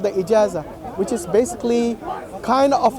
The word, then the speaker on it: Ijazah: How do you pronounce it? Ijazah. I-J-A-Z-A. Yes. Ijazah.